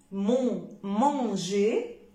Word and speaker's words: manger: Alors, je prononce je quand j'ai un G suivi d'un E ou d'un I. Manger, rougir, manger, rougir. Alors, GE, ça donne je. G-I, ça donne je aussi.